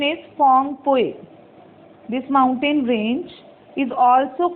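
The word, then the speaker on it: Phawngpui: Its pronunciation is Phongpui.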